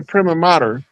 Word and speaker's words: prima: Cuz it's actually pronounced primma.